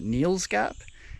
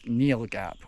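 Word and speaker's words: Neel Gap: And Bill explained to me that the official pronunciation and spelling is Neal Gap without the S.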